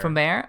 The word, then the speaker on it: Promare: I'm just going by how they say it in the fucking movie. Promare.